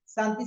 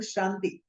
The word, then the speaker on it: Shanti: When you're chanting Om Namah Shivaya, we say Shivaya, Shivaya, we say Santi Santi, no, Om Shanti.